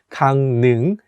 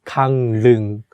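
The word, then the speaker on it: 강릉: this city and although it has the consonant rule which is for l sound when we say it we change it to n sound so it becomes kang ning not kang lung in the sentence we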